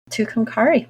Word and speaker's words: Tucumcari: Tucumcari.